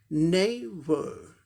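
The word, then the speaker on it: neighbour: नेबर, नेबर, नेबर, ये British English हो गया। इसी को अगर अमेरिकन इंग्लिश प्रोनाउंसिएशन में करना है तो क्या होगा, लास्ट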